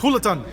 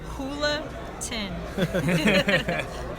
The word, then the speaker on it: Julaton: It's Hulatan. Yes. Tell him. Thank you. It's Hulatan. Anna Hulatan. Hula-tin. Pretty easy. J is pronounced as an H.